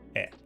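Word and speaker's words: へ: it looks like, because this is technically the hiragana for he, but it's actually pronounced e.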